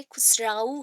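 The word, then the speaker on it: Amir Khusrau: ठीक है, अमीर खुसरू, स्पेलिंग यहाँ पे खुसराऊ है, बट प्रोनाउंसिएशन क्या होगा, खुसरू।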